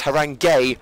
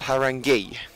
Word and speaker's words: Haringey: bit of rushed about so it's harangue gay not Haringey my book is now